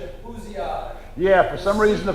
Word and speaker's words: Bousillage: But we lost the pronunciation over the years, and it's Bousillage.